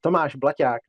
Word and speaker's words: Tomáš Blaťák: hear it pronounced correctly the check pronunciation is Tomas blak but your pronunciation was